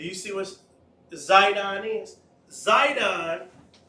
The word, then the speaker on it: Sidon: see what zidon is zidon later on was became pronounced sidon with an S same thing zon sidon